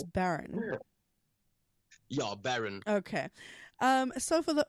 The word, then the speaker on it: Bern: My name actually gets pronounced Baron, but I know people always say Bern when they when they read it.